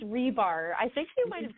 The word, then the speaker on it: Ribar: how do you say your last name it's rebar I think you might have said it right